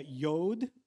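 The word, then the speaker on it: יוד: Aquí el texto en hebreo es una palabra que se pronuncia yod.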